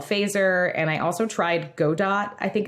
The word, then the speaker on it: Godot: and i also tried godot i think it's pronounced not godot it's spelled like godot but i think it's pronounced go dot okay doesn't make sense